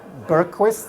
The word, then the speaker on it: Bergqvist: hi everybody I'm Bergquist s-- that's a strange name pronouncing in English when I used to live